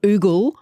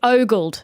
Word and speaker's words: ogle: Okay, but it's ogled. It's ogle like an ogre.